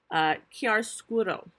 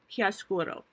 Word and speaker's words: chiaroscuro: new artistic technique called chiaroscuro. And I'm going to spell that for you because it's not only hard to say, it's hard to spell. It's an Italian word. It is spelled Chiaroscuro. Chiaroscuro.